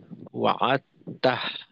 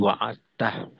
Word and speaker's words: وعدته: আর এখানে ওয়াআত্তা, অনেকে দেখা যায় ওয়াআত্তা, এখানে তাতেই সীমাবদ্ধ করে ওয়াআত্তা, তো তা না হয়ে তাহ, হা উচ্চারণ করতে হবে, অর্থাৎ ওয়াবাআসহু মাকামাম মাহমুদানিল্লাযী ওয়া'আদতাহ ইন্নাকা লা তুখলিফুল মিআদ।